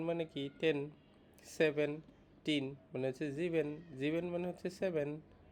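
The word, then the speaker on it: sieben: সেভেন কে বলে হচ্ছে জিভেন এটাও যে এর মত করে উচ্চারণটা হবে জিভেন যে এর মত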